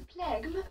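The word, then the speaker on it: phlegm: PH is always pronounced as F, and you don't sound the G.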